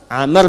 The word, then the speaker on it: Amr: Amr bin Fayid. Bismillah. Ah, ini Amr. Ah, kalau dibaca begini, Amr namanya. Kalau wya hilang bacanya Umar. Ingat ya.